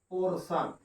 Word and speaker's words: portion: अब देखिए PO से पोर, अब यहाँ TIO आ गया, इसका हमने उच्चारण क्या किया? स किया, और ये हमारा क्या हो गया? पोर्शन।